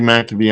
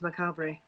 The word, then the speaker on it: macabre: name macabre oh my god i called you matt to be i'm sorry it's okay i guess it could